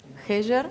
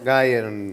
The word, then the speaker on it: Geyer: Heyer. Heyer. Heyer. Geyer. O Geyer, en alemán, pero en alemán, más claro, fácil.